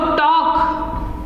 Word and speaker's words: talk: ये होता है बच्चों टॉक, वॉक टॉक। इनमें L जो है ये साइलेंट होता है, यानी कि साइलेंट का मतलब है कि इन्हें बोला नहीं जाता है। L जो है साइलेंट रहता है।